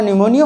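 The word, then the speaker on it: pneumonia: तरीके हैं ठीक है कि हमारे साइलेंट है न्यूमोनिया बस इतना याद कर लीजिए आ जाएगा ठीक है तो यहां पर हमारा निमोनिया हो गया और ऑप्शन हमारा सी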